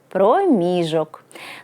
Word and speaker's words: проміжок: Відстань або відрізок часу наголошується на другий склад. Проміжок.